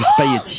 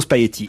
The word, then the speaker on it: spaghetti: Vous avez dit le G, là. C'est génial. Non, j'ai pas dit le G, j'ai dit Ils disent- spaghetti. Et alors, ils disent que je dis spaghetti et qu'il ne faut pas dire spaghetti, mais qu'il faut dire spaghetti. Mais je suis désolé, on entend très rarement le G quand quelqu'un parle de spaghetti.